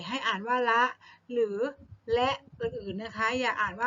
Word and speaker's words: ฯลฯ: อ่าน ว่า ระ หรือ และ อื่น นะ คะ อย่า อ่าน ว่า ไป อัน ใหญ่ นะ คะ มา ดู ว่า เวลา ที่ อยู่ อยู่ ใน ประโยค ให้ อ่าน ว่า และ อื่น ๆ นะ คะ แต่ วัน